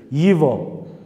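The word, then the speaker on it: его: Yivo. Yivo. Buradaki arkadaşlar G harfi istisnai bir kelimedir. G harfiyle yazılıyor. Rusça'da bazı kelimeler o şekilde. Yigo diye yazılıyor. G. Yivo diye okunuyor.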